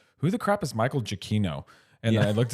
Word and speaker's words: Giacchino: So I realized I was saying his name wrong, Travis, for years. I was saying Giacchino. Yeah. I was saying Giacchino. Apparently, that's not it. It's Giacchino, I think, isn't it?